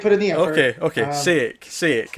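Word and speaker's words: Šejić: Sejic. It's Sejic. Okay. Sejic. Yeah. Sejic. It's like saying say it, just with the C sound at the end.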